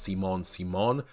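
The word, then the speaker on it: Simone Simon: reference here the Simon Simon Legree has this pronounced Simon Simon that's based off of a French actress named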